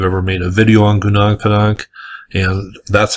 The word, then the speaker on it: Gunung Padang: One person asked me if I've ever made a video on Gunung Padang, and that's how I'm going to pronounce it.